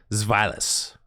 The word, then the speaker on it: Zweilous: You're telling me that W doesn't make a woof sound? Zweilous? Zweilous. Yeah, Zweilous? Zweilous? The W is definitely more of a V, though, isn't it?